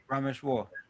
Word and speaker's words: Rameshwar: It's War. Rameshwar.